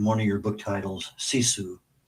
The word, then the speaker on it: sisu: You use a word in one of your book titles, CISU. I'm not sure I'm pronouncing that correctly. Perfect. U tell us about that word. Yeah. So sisu is such an important Finnish concept.